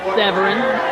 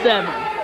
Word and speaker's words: Severn: The Iceman Chris Severn has asked me to remind the fans that, unlike some previous commentators, his name is not pronounced Severin or Seven or Severn, but Severn.